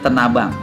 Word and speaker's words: Tanah Abang: Dan memang untuk Sabeni sendiri terkenal di daerah Tanabang atau Tanah Abang. Orang panggil sekarang Tanah Abang, tapi orang asli sendiri bilangnya Tanabang. Ya. baik itu Tanah Abang ataupun Tanah Abang, dia sama.